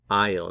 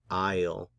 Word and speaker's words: aisle: Aisle. Noten que en inglés esta S en esta palabra no se pronuncia. Aisle.